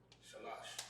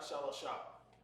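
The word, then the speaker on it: שלוש: How do you know it's not Shalasha? Because in the ancient, we know where the connectors go. Exactly. That's exactly what it is. Because in the ancient, we know where the connectors go, right? Without that, we'd have no idea. We'd be saying Shalasha, now it'd be incorrect. But we know because in the ancient, right? In the ancient, this number is written like this. Shalash.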